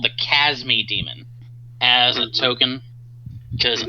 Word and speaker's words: Chasme: The E is silent. Plotting. Fun fact. And it's pronounced cha instead of ka.